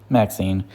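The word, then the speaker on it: MaXXXine: Anyway, the next movie I saw this month was Max 666, I think is how it's pronounced. Maxine, from Ty West, one of my favorite directors.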